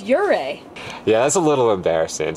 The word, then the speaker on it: Ouray: wrong the whole time we've been saying uray which now that I know it's wrong sounds a little ridiculous it's your ray yeah that's a little